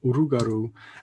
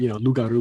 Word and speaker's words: rougarou: Even though I teach French, and loup-garou would be more correct. Rougarou is just so common in Louisiana, and it just seems like so many more people use rougarou, and that kind of what you might call a confusion of liquid consonants, the L and the R.